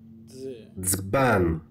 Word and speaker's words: dzban: Is the combination of D and Z, and you should pronounce it as dz, dz, like dzban, dzban, dzban, dzban, dzban, dzban.